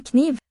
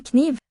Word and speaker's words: kniv: And the K in this word knife, in the cousin word in Norwegian, is still sounded. Hun trenger en ren kniv. Ren kniv. It's not just randomly written in English, it was centuries ago pronounced.